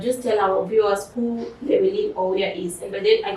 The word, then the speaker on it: Llewellyn Ouya: that camera and just tell our viewers who Llewellyn Ouya is. And by then, I got the pronunciation of the name correctly, right? Yeah. Okay. So my name is Llewellyn Ouya, and I'm a business consultant, content creator, and a medical student.